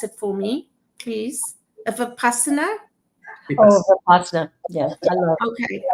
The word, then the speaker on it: Vipassana: So, Barbara, you pronounce it for me, please. Vipassana? Oh, Vipassana. Yeah. Okay, Vipassana.